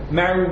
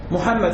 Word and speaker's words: Muhammad: El nombre del profeta es Muhammad. Muhammad, si quiere decir Muhammad, no es Mamá o Mau, algo así que es más aún.